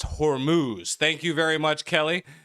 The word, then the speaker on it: Hormuz: It's pronounced Hormuz.